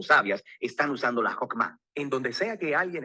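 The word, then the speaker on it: חכמה: En hebreo se pronuncia Hokmah y usualmente se traduce al español como sabiduría. Es un atributo de Dios que Dios usó para crear al mundo y Hokmah ha sido entretejida en la tela de las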